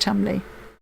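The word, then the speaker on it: Cholmondeley: It's pronounced Chumley.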